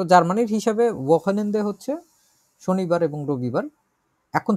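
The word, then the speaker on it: Wochenende: উচ্চারণ করি তো আমরা ওয়াকেনেন্দে, এটা একটু জটিল আছে।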